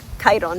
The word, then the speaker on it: Chiron: with a centaur called Chiron, or Chiron, depending on your English or Greek pronunciation of it, who was a great swordsman, but also known for his knowledge of medicinal healing.